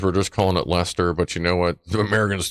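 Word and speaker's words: Leicester: it's not that so I'm guessing that' be like Leisure that's Lester not Leisure so that would be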